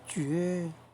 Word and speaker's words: 玨: 最右边那个按下去，绝，那个字念作绝啊。